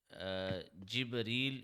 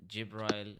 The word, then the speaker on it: Jibreel: Okay, so Jibreel is the correct pronunciation of the word in Arabic, and Jibrail is in English. They call him Jibrail in English, but it's in Arabic. It's called Jibreel.